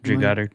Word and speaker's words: Drew Goddard: Did I say his name right? Drew Goddard? Yeah, Drew Goddard.